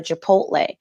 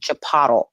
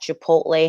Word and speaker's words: Chipotle: and this is when people were still mispronouncing the name and calling it chapada like it's hard to believe that Chipotle hasn't just always been